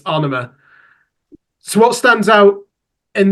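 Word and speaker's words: Ænema: Apparently, the pronunciation is AEnema. I used to call it AEnema. Apparently, it's AEnema.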